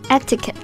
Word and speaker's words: etiquette: 这个单词呢确实比较难写比较难读也比较难我们先看一下它的拼写 E-T-I-Q-U-E-T-T-E So it's really hard to pronounce it according to its spelling Yeah, but it's actually easy if you listen、Etiquette Etiquette Etiquette Etiquette means the rules governly social acceptable